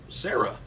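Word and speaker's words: Shara: gear a ring name Sarah weird way to spell it though s-h-a-r-a Sarah anyway she could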